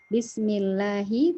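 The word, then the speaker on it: بِسْمِ اللَّهِ: Bismillahi tadi lamnya lam jalalah yang tipis ya karena sebelumnya kasroh.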